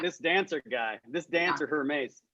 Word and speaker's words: Hermes: this dancer guy, this dancer Hermes, it's pronounced Hermes.